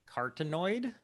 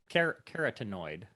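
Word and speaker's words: carotenoid: i can't pronounce uh one is cartonnoid oh you nailed it that's it keratinoid keratinoid yellow orange and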